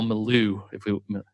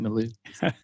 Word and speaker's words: milieu: Yeah, well, I think something you and I chat about quite a bit, but is the current social cultural milieu. Is that how you say that, milieu?